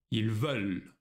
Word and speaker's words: veulent: Тут, как и для глагола pouvoir, произношение «je veux», но «ils veulent». Очень важно заметить эту разницу.